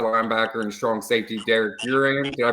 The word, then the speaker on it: Uran: 195 pound outside linebacker and strong safety Derek uran did I pronounce that right yes sir you did youan